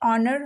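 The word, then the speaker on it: honour: hospital ठीक है तो जब भी आपको कहीं एच के बाद ओ दिखे दोनों एक साथ में दिखे साइड बाय साइड तो आपको क्या करना है एच को कर देना है साइलेंट और हम पढ़ेंगे उसको ऑनर Hunar आवर आवर एंड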